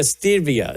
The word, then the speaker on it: stevia: And so because I was told it was only a stevia.